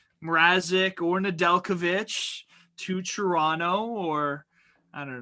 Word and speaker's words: Nedeljkovic: Yeah, it's Nedeljkovic.